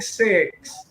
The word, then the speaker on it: six: The big six. Oh, be careful on that word six, ha? Ayan, kasi you mispronounce it sometimes also. The big six. Short I, as in E.